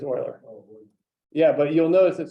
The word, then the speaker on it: Euler: It's Euler.